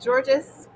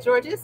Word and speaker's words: Georges: So, and then here we are with Georges. Hi, Georges. It's nice to see you. No, I'm going to correct your pronunciation. He's in French. He is Georges.